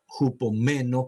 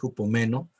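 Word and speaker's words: ὑπομένω: Esta palabra perseverar, que en griego se lee hupomeno, con acento en la E, hupomeno, viene de dos palabritas que también significan quedarse bajo o quedarse detrás.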